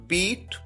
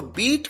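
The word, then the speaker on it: beat: बीट बीट बीटन बीटिंग यहां पर अगर आप ध्यान दें तो बीट की सेकंड फॉर्म को भी उसी तरह से प्रोनाउंस किया जाता है जैसे फर्स्ट फॉर्म को यानी बीट कई बार स्टूडेंट्स गलती करते हैं वह प्रोनाउंस करते हैं बेट यहां पर बीट प्रोनाउंस किया जाना है मारना हिट हिट हिट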